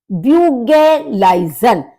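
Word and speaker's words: Bügeleisen: ब्यूगेलाइजन, यू वही उमलाउट वाला है यू, ब्यूगे, और एल ई आई, ई आई का प्रोनाउंसिएशन आई होता है, तो ब्यूगेलाइजन यानी कि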